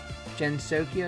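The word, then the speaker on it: Gensokyo: And also, Gensokia is pronounced with a hard G.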